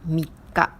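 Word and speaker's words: 三日: 3 jours ou le jour 3, on dit comme mika. Mi est le chiffre 3 que vous avez déjà appris en kanji. Et ka, ça s'écrit avec ce kanji.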